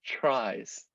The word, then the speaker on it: trie: next data structure okay they're pronounced as tries um i don't know